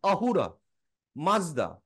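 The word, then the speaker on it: Ahura Mazda: চাই তাহলে বেরোবে আসুরা তো ওরা স টাকে করতে পারে না উচ্চারণ সেই জন্য ওরা আহুরা মাজদা তো আহুরা মাজদা মানে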